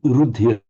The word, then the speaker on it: rudhira: If you pronounce the word rudhira on its own, it's 3 light syllables, rudhira.